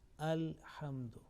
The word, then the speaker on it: الحمد: Now simple is that here, look here, this lam with sukun, and lam here is not assimilated or merged, is clearly being pronounced alhamdu.